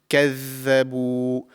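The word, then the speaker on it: كذبوا: So the correct pronunciation is كَذَّبُوا. The tip of the tongue slightly comes out of the mouth, just like the Tha, but there is more vibration in this pronunciation.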